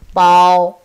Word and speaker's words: 包: Pronounce with me, bao.